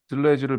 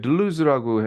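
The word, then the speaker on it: Deleuze: 그게 이게 발음 다시 한번 얘기해 주세요. 아니 뭐 미국 여기 영미권에서 들레즈를 배웠기 때문에 여기서는 이게 들루즈라고 해요.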